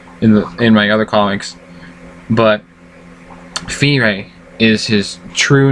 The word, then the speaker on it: Fyree: My name on the site, FyreeTSG, yes, pronounced Fyre, not Fiery or anything else, but Fyre, comes from, well, the